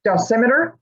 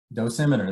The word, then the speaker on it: dosimeter: line of noise and i'm always afraid to mispronounce this dulcimeter dosimeter that's correct dosimeters ghost nosimeter okay